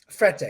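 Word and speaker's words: Frette: that was definitely the worst I mean the Fred sheets is just unbelievable is that even that's how you say it fret yeah but I mean I've I did experience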